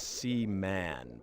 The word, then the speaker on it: Seaman: I don't know if that says wild a SE man speaking of seaman let's be sure and get my name right skin puppet oh oh my gosh Sean wow Sean it's SE man punk okay there is one if you if